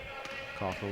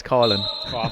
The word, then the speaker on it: Coughlin: Coughlin with the ball. Of course, Paul, just for the correction, in Cork he's Colin. Sorry. But we won't hold it against you. That's the Donegal pronunciation there.